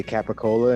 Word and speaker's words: capicola: not how they play they pronounce all the letters they say capicola in italy yeah i'm sure they